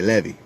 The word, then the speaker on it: Levi: a Simeon and then if you don't say Levi I say levy and you've got words